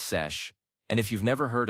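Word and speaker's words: seiche: There's also something called a sich, pronounced sesh.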